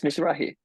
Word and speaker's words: Mizrahi: Mizrahi, am I pronouncing it correctly? Yes, Mizrahi.